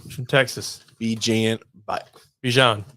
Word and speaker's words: Bijan: Bijan. Bijan. Like Dijon mustard, but would it be? No, it's not spelled the same. But it's pronounced the same.